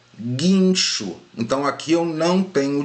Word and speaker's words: guincho: Agora observe quando eu pronuncio aqui, guincho. Aqui não tem ditongo, porque eu não pronuncio guincho. O som do U não sai, pessoal. Então aqui é guincho.